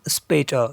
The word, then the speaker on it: später: First umlaut we have here a, but it is pronounced as a if it comes in any word, just as a in mate in English.